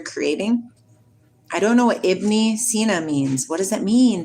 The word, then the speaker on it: Ibn Sina: Ibn Sina.